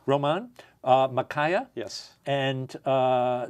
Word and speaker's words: Román: uh I hope I do justice to the pronunciation Roman is that right R Roman uh MAA yes and uh there is so